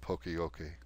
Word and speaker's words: poka-yoke: and is fluent, and he would like us to pronounce it poka-yoke, which is I think how it's said.